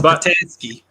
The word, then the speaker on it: Petoskey: It's Petoskey. Is it Petoskey? But that's if you're from from north. Boston. That's if you're north. I get so much hate because I naturally say ASCII, so it's Petoskey to me, and I'm getting a